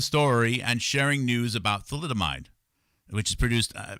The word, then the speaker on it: thalidomide: as I showed yesterday in this movie about thalidomide, let's see if I can pull up my my YouTube page here.